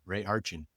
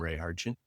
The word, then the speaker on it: Ray Hartjen: Just use my name, Ray Hartin. Uh it's spelled R A Y H A R T Jen. That's my website on all the social platforms. I'm Ray Hartin.